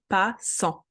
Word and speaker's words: passant: The T doesn't have a vowel best friend, gets added to the previous syllable, but is not pronounced. Un passant.